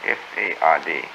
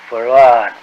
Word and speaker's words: Fard: F-A-R-D. Fard. Muhammad. Mr. Fard, did you say? Well, that would be the F-A-R-D? pronunciation in English, but we in the Arab yes, it's Farrad.